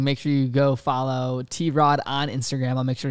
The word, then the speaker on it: t-rod: on my instagram at t-rod a lot of people pronounce it trod it's t-rod so it's t-r-o-d and